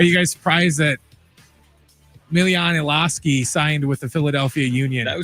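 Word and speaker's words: Iloski: Are you guys surprised that Milan Elski signed with the Philadelphia Union? Did I say it right? That was pretty good. Good effort. Yes. Milanoski.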